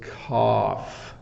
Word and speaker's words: cough: this person is coughing the challenge with cough is the GH um for people who are learning English so just have something flying around here so it's cough it's a it's an F sound at the end so um when you